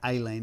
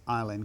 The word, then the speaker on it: Eileen: I don't think Dexy's Midnight Runners were thinking about Aileen. It's Eileen. Come on, Eileen, not Aileen. Isn't it spelled the same? No, it's E-I. This is A-I.